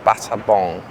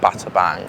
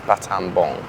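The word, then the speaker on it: Battambang: It's No, it's pronounced Batab Bong, not Batabbang. I keep saying Batab Bang, but it's Batam Bong.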